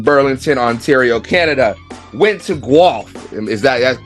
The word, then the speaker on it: Guelph: Went to Guelph. Is that's correct? I said it right. You got it. Guy from Guelph. I said Guelph, but we'll talk about that later.